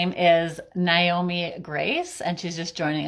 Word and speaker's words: Naomi: So just first thing, oh, sorry, my name is pronounced Naomi. So if Naomi. anybody forgets, it's Nay like a horse, and then me, Naomi.